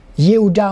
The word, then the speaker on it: Yehuda: Yehuda, encore une fois, vous voyez le mot Y et prononcer la lettre Y, Yehuda.